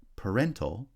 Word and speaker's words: parental: on the second syllable parent has stress on the first syllable but parental has stress on the second syllable terrify has stress on